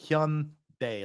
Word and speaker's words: Hyundai: know what he's like like honey but with a Y Hyun Day like daytime Hyundai it means like